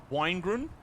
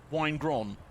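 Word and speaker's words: Waun-gron: I believe the wine is pronounced similarly to wine. Is it? So it's Winegrun? Park Winegron, or Winegron Park.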